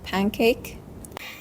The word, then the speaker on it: pancake: In Sister Jinan's pronounced the word as pancake, we can clearly observe a phonological process known as assimilation. Specifically, this is an example of regressive assimilation where the alveolar nasal n changes to the velar nasal ng. This change happens because of the following sound k is a velar consonant and the nasal sound shifts to match the place of articulation.